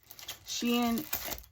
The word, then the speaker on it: Shein: And funny story, I don't know how funny, but funny to me, I went to UPS today to return a Shein package, and the guy was like, "Is Amazon?